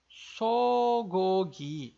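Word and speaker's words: 소고기: Só que aqui a gente vai pronunciar com G porque ele está no meio ali da palavra.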